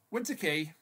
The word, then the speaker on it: Winter Quay: It's pronounced Key as in a door key, but Winter Key.